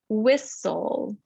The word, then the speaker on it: whistle: in that word castle whistle in the s t l e the t is silent as well as the e and the syllable is